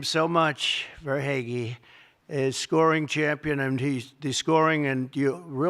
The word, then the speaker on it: Verhaeghe: I said hair is right. I heard that name so much, Verhaeghe, is scoring champion, and